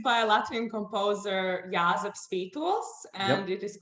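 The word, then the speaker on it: Jāzeps Vītols: Tell us about the next piece and pronounce it for me, please. So it's by a Latvian composer, Jāzeps Spītols, and It is called Zacchaeum, or in English, Rabbit Hair Mother.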